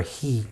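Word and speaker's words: הִוא: because he was barren, who, the way it's written, or he, the way it's pronounced, because they were barren, vayeta Yitzchak, that Yitzchak prayed l'noichachishte against his wife.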